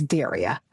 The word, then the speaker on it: Daria: I introduce myself is I dare you to mispronounce my name and it's as Daria.